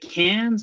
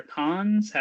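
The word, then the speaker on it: Cannes: the Grand Prix at is it cans or k how do you say it I mean I say KH but you know yeah I heard both I'll say k okay yeah so it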